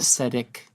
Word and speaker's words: aesthetic: The TH is there, and it's in the pronunciation.